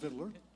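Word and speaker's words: victualler: Any other questions about Vicueler, which is actually pronounced Viddler?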